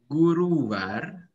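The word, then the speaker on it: गुरुवार: Kamis Guruvar. Guruwar, ini Ru ya.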